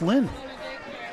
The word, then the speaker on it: Line: Lynn Ward, spelled L-I-N-E like lime, but it's pronounced Lynn.